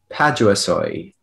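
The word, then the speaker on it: paduasoi: you repeat all the information please thank you padua soy uh that's the only pronunciation it's a noun that arrived in english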